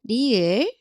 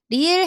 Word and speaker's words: 리을: Its sound is somewhere between R and L in English. R or L. At the beginning of a syllable, it sounds like a light, soft R, and at the bottom, it sounds closer to an English L.